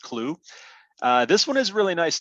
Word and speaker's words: Clew: next one is called clue and it's spelled like chu c-h-e-w but it's c-l-e-w pronounced clue this one is really